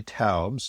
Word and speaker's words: Taubes: And for our listeners who are not familiar with Gary Tabs. T- Aubs. The E S is not pronounced.